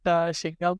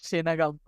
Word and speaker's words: Shinagam: Actually, it feels really good, but the actual pronunciation is not Shingam, but it is Shinagam.